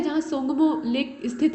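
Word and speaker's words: Tsomgo: सोंगमो की जो स्पेलिंग आप देख रहे हैं वो टी से स्टार्ट हो रही है। तो बहुत जगह ऐसा होता है जैसे सुनामी में आप कहते हैं सुनामी लेकिन लिखते हैं टी से, मतलब टी से उसकी जो स्पेलिंग है वो स्टार्ट होती है, वैसे ही यहाँ भी है।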